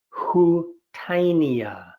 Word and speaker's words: Houttuynia: lungs many studies and the way you pronounce it is who tinea houttuynia fish smell grass